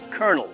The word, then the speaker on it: colonel: The language where colonel is pronounced kernel, where debt has a silent B, and where the word set has over 400 definitions.